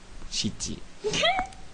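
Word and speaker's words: 七: Et pourtant, parfois, 4, vous le verrez prononcer shi. 7, vous le verrez prononcer shiti.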